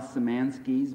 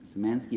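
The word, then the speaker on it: Szymanski: other people online yes you could read Al samanski's book is the red flag flying so manski is spelled s z y m-a-n-s-k I or Y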